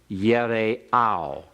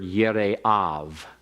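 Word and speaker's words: יראיו: Now, if you're pronouncing it with a modern Hebrew inflection, for those of you who are Dr. Grisanti students and visiting this morning, you'd pronounce that last word Yire'av. All right, it'd be a V for the vowel on the end, using the modern Hebrew pronunciation.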